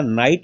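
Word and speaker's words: knight: हैं के साइलेंट है इसमें भी देखिएगा नाइट बोलते हैं के साइलेंट क्या बोलते हैं नाइट देखिएगा नेक्स्ट एल साइलेंट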